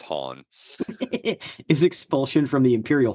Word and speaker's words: Han: It's pronounced Han. Yeah. Following his expulsion. Hey, Lando calls him Han. It's Han.